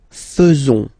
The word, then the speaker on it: faisons: So it's quite strange because French people tend to pronounce faisons. Okay? So like here, this AE is not pronounced like normally we should pronounce it like E, but then like E.